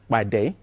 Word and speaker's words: Pàdé: will go yet ba the P has to be explosive so it actually means